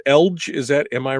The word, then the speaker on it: Eledge: Well, and it's Eledge. Is that, am I right? Or is it Eledge? It's Eledge. Is the word edge, EDGE, yep. with L.